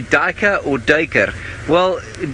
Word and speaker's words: duiker: and I guess the anglicized version is duiker Dyk er it's probably more correct for me to use I mean I've never